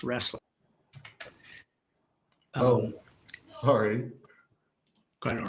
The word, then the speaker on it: Roesler: go on record that because my last name is pronounced wrestling oh sorry quite all